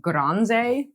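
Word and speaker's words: Gronze: And then our favorite resource is a Spanish website called Granze. It's spelled like bronze, but with a G.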